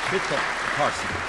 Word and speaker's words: Trita Parsi: How do you pronounce his name? Trita. Last name. Trita Parsi.